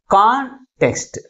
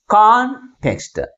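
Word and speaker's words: context: నెక్స్ట్ second వన్ ఈస్ కాంటెక్స్ట్. కాంటెక్స్ట్. How many syllables we have? 2 syllables. But which syllable is pronounced with a greater force comparing with other one? That is first one.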